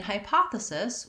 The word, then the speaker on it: hypothesis: at hypothesis first and in hypothesis we have second syllable stress so the letters p o say the sound vowel and this is the stressed syllable so we have a clear vowel so i'll rewrite that as pah with p-a-h and i'm using capital letters to show you that that syllable is going to be a little bit clearer and longer than the other syllables the hy in hypothesis